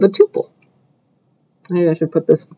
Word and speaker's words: tuple: Some people pronounce it tuple, but I learned it tuple, so that's how I'll say it.